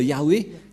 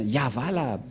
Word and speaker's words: Yahvah: Car dans le Sefer Torah, c'est bien Yahva la prononciation. Et on va prendre en photo car certains aussi disent que c'est Yahweh, mais pas Yahva.